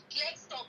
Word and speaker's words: Klerksdorp: We're waiting on a few other things to flow through, but I will be in Klerksdorp. I think I'm pronouncing that correctly. Is that right? Klerksdorp? Clickstop, yes.